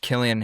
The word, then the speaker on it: Killian: What me up is that Killian Hayes is a K.